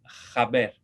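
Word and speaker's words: haber: La H en español no se pronuncia, ¿verdad? Sí. Digo hoy, hola, pero en latino suena como una J. Entonces, para news, noticias, decimos jaber, jaber, jaber.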